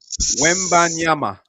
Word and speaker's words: Wembanyama: Or Wemby. Say it, Major, because you're African. Go ahead. Say it again, Major. Wembanyama.